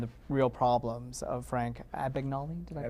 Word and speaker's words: Abagnale: How did sets apply to when you were dealing with the father and the real problems of Frank Abagnale? Did I pronounce? Abagnale, versus the fantasy world that you were creating?